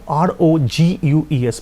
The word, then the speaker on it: rogues: Yes, or the Odisha Mayhem, comma, some rogues বানানটা খেয়াল করো, ROGUES, বানানটা রগিউ, but the pronunciation is rogue.